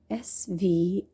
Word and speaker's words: Svadhishthana: Now this is going to be a challenge to pronounce this in Sanskrit. Let me spell the Sanskrit name first. Svadhishthana.